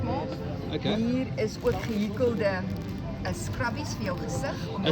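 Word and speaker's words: gehekel: Hier is ook gehikkelde scrubbies vir jou gesig om jou gesig mee te was.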